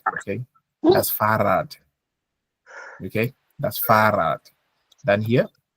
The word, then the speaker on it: Fahrrad: You know that when there's an R, we stretch. Farad, far, referee, yeah, Farad. Okay, that's Farad.